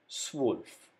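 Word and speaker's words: zwölf: is has a pronunciation of ao so we pronounce it like this swolf number 12.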